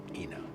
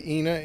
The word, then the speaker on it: Ina: - I'd have to consciously think to say (Ee)Ina and if I did, everybody would correct me and tell me that I'm saying it wrong.